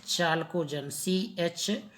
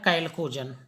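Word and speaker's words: chalcogen: कैल्कोजन लिखते हैं चाल्कोजन, CHALOGEN, चाल्कोजन, लेकिन इसको आप पढ़ेंगे क्या? कैल्कोजन।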